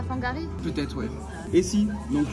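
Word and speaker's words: Whangārei: dans quel épisode, mais qui se prononce comme le F au final. C'était pas quand on était à Fangari?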